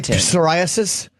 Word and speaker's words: psoriasis: of absolutely often is you say psoriasis that is a silent P you say psychology yeah